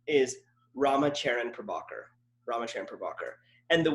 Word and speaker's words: Charan: It rhymes with Darren, Karen, Sharon, like names that everyone, when they see it, they're like, oh yeah, that's Darren, or that's Sharon.